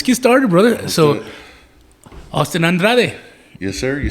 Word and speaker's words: Andrade: Yeah, growing up, that's the Andrade boys, you know, from my dad and my uncles, my grandfather, and everything.